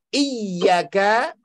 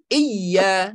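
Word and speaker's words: إِيَّاكَ: Termasuk iyyaka, iya, ya, iya itu bukan iya, karena artinya serem. Kalau kita membacanya iyyaka na'budu, iyyaka na'budu, bukan iya, maka kalau bacanya iya, kalau dalam bahasa Indonesia itu i y a, cuman iya, cuman iyyaka na'budu, itu artinya sinar matahari.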